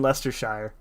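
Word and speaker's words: Leicestershire: Aussies got it covered you pronounced it wrong then Lester Sha Sha Shire I'm just it's the Shire you're all Hobbits and you live in Lester Shire that's and that's that's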